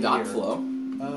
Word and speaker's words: .flow: this is kind of weird but it's actually pronounced period flow I'm going to call it dot flow I've always called it dot flow but apparently